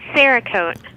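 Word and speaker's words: Cerakote: gun it's got a name yes it's called sakote sakote all right let me write that down how do you spell that c e r uhhuh a k o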